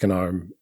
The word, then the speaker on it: GNOME: Anyway, and then my friend listened to the show and said, "Huh, he can't even pronounce Gnome properly." And then I had to explain, "No, it is Gnome."